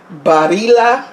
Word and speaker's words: Barilla: pasta I usually use the Barilla body la is I think the correct way to pronounce it but I'm mostly Barilla I usually use the Barilla